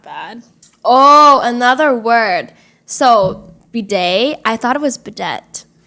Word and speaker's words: bidet: But I realized it was French and pronounced bidet.